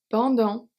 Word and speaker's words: pendant: Pendant, the T at the end is silent.